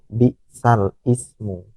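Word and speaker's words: بئس الاسم: Di dalam Al-Quran tulisannya bacaan naql itu bi'sal ismu, tapi cara membacanya bi'salismu.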